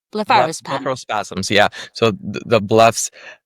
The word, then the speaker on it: blepharospasm: Um there's a difference um between cervic- cervical dystonia and blepharospasm? Bleph- how do you say this? Blepharospasm. Mhm. Okay. Yep. Blepharospasm, right? Blepharospasm.